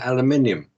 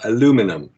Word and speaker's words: aluminium: EVA handles was 2024-TT3510 aluminium, or aluminum, as Americans pronounce it, whose melting point is 1,180 degrees Fahrenheit.